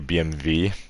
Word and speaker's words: BMW: saying it wrong um BMW they say BMV because W is v in German obviously a Vulcan wagon you